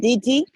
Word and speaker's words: didi: Didi. Didi. Didi. Didi. Didi. Didi. If you say Didi, you are speaking Ewe, which is to slide. Didi, to slide. But this is Didi.